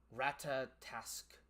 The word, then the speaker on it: Ratatosk: Ratatosk is how it's pronounced.